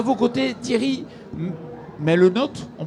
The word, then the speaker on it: Melnotte: À vos côtés, Thierry Melnotte, on prononce comme ça? Oui, Melnotte.